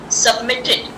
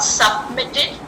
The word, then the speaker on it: submitted: Submitted. Not submitted. Submitted. Submitted. Here there are two T's, but one T is pronounced.